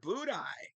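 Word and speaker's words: Budaj: Show speed and Peter budai he's gonna work the net right now TBO is out budai is in both players refusing to pronounce the last letter in their name and it's no better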